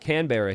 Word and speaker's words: Canberra: Less emphasis on the can.